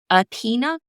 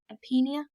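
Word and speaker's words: Irpinia: But after their home was destroyed by the 1930 Irpina earthquake, I believe is how you pronounce it, Irpina.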